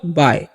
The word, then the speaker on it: bye: बाय। क्या पढ़ते हैं? बी का जो उच्चारण करना है ब और YE का उच्चारण करना है आय, तो हो गया बाय।